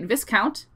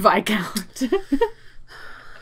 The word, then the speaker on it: viscount: my favorite book in the series is the vi count who loved me also side note i grew up pronouncing it viscount because i only read the word and only recently learned that it's pronounced by count like years of brazier yeah since the bi